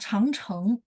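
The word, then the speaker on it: 长城: Tapi kalau misalnya panjang, dia juga hurufnya sama, tapi bacanya chang, kayak changcheng, tembok Cina. Jadi jangan changcheng kan, Laoshi, karena saya belajarnya chang, ya gitu ya. Jadi memang dia dua pronunciation, tapi artinya berbeda.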